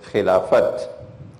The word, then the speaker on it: Khilafat: Because this is not the Arabic word Khilafah, this is the Urdu word Khilafat. So they pronounce the T.